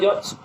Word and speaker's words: judge: Judge. Yes. Sakhi. Spell the word judge. J-U-D-G-E. Which letter is silent here? G, judge. D is silent.